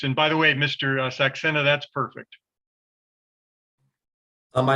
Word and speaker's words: Saxena: My name is Shannon Saxena, and today I'll be directing Carson Durst and crossing Blake Donker. Okay, and last name is pronounced again? Saxena. Saxena.